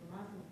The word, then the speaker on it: mazel: Usually I always say Mazel Tov. Well, that's more of a Yiddish pronunciation or an Ashkenazi pronunciation, but it's the same thing.